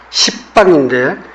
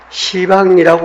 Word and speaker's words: 시방: 십방인데 시방이라고 우리 발음을 하는데 다시 말하면 온 우주를 통틀어라고 살피시면은 바로 살피는 겁니다.